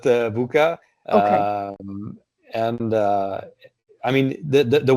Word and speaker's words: VUCA: How do you pronounce that? Is it VUCA or just VUCA? Yeah, I would pronounce it VUCA.